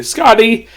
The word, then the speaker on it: Skati: The way they pronounce her name in the dub, it's pronounced Scotty, as in Scttti, even though her name is spelled Skati.